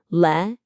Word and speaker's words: legislation: The stress is on the le syllable. Legislation.